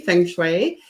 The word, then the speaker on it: feng shui: Well, it's been pronounced many ways, and thank you for pronouncing it correctly, feng shui.